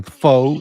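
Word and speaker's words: phở: You have to use a a broken rising accent so it sounds like you're asking a question even though you're not.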